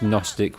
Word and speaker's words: Gnostic: I'm learning something new Gnostic or is it just Gnostic with a silent G it's basically the